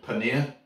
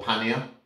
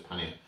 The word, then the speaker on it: Pannier: uh country cottage and paneer um so i'll pannia actually so paneer is something completely different it's spelt pannier so it's pannier so um both in